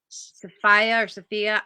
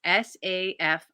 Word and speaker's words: Safiyah: into a Pair by Sophia. I know I apologize. I'm saying your name wrong. It's Safiyah, and her last name is.